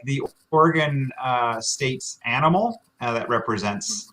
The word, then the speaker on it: Oregon: pronunciation here oregon right i say oregon right only two syllables you can also say or a gun like the number one